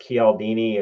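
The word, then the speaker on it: Cialdini: The first one is Persuasion, okay, by Robert Kaldini. And I I use the Italian pron pronunciation because I speak Italian. Um, so he may say it differently.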